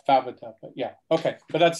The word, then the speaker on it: Favata: Her name is actually Favata, and that's spelled F-A-V-A-T-A.